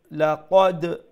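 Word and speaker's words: لقد: ঠিক আছে, আর একটু ও যে লাকাদ ওমলাখান লাকাদ খালাকনাল, বুঝতে পারছেন?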